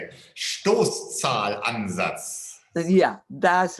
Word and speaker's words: Stoßzahlansatz: Stoßzahlansatz.